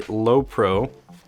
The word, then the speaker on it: Lowepro: we have here is the low pro is that how you say it it is the lowepro i'm gonna hit that